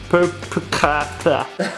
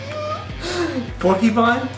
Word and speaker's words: porcupine: Man, that cell phone looks like a perpicata. What? Perpicata. I don't know how you say that. How do you say that? Perpicata. Yoshik. Porcupine?